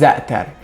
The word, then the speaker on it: za'atar: So the right way is za'atar. And if you don't speak Arabic, Persian or Farsi, I don't think you're going to be able to pronounce this like the right way, because there is this letter in the middle which comes from your throat.